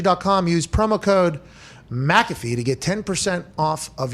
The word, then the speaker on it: McAfee: five hour energy dot com use promo code mcafee to get 10 off of your order this will end in a couple days but we have to use the first take version of mcafee do i get the promo no it's m